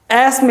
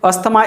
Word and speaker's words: asthma: the sound air asthma asthma is correct asthma is wrong asthma is a name of disease asthma is a name of disease and it is wrongly pronounced as asthma by most of the